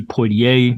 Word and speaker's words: Poitier: yeah yeah but man Sydney Porter died I mean Sydney Poitier is that how you pronounce it or yeah yeah